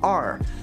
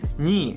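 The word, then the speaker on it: 二: Chinese which is pronounced R but I pronounce it as ni which is the Japanese pronunciation of number two but it's a sound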